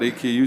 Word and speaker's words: Aku: AKU sent us. I shouldn't say AKU. It's AKU. They gave me crap for saying AKU. Say it properly.